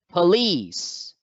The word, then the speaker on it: police: is lying over the second syllable so therefore lease must be accented so the word is pronounced police police next the word is